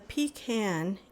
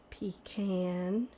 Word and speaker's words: pecan: Pecan. Some people pronounce it pecan. Okay, this is going to be the last of the pecan, or as you might know it by pecan, cookies.